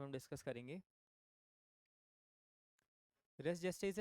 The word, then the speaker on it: res gestae: जाता है, that is race जेस्टे। Race जेस्टे को कई लोग रेस गेस्टे भी बोलते हैं, लेकिन इसकी करेक्ट प्रोनाउंसिएशन रेस जेस्टे ही होती है।